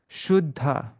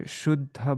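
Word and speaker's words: śuddha: Shuddha. So see, there's a double two D's without any vowel in between that, without any kind of vowel. So the syllable before it becomes long, even though it's a short, because it comes before a conjunct, this one becomes long. It becomes a long syllable.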